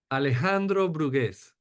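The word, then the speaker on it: Alejandro Brugués: so we already you already the the correct pronunciation give it to me Alejandro buges there we go so yeah everyone knows now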